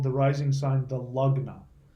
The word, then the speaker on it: lagna: the rising sign the Lugg now L AG and a it looks like lagna but it's pronounced lug not lug now we